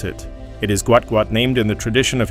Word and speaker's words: Gout Gout: And if you are wondering how to pronounce it, it is Gout Gout named in the tradition of his South Sudan heritage where a name is often repeated for emphasis and identity.